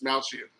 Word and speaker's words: Dastmalchian: I always forget how to David pronounce. Dastmalchian.